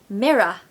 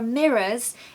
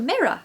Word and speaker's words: mirror: in that moment so we want to start with M the stress goes on the first syllable okay mirror mirror